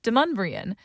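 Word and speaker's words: Demonbreun: It's Deumbrian.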